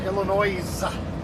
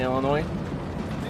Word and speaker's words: Illinois: Is that how you just You dropped the S, right? In Illinois. It's dropped everywhere. Yeah. But I refuse to do it. I don't like him, so I'm not going to say it right. Goddamn right. It's a French word. Um, they didn't want the They're not going to say the S.